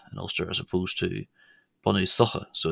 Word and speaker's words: Bunúsacha: Gaelic will know that the CH sound here in latter syllables, not the first syllable, can be pronounced quite often as och as opposed to ah or ach, which it is in Ulster.